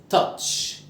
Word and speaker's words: touch: يلمس تاتش، الاو سايلنت، واليو ت، والسي اتش تشا، تاتش.